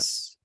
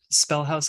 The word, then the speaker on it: Spellhaus: Spellhouse. Yeah. It's spelled with German too. It's Spellhaus, which I think is really interesting.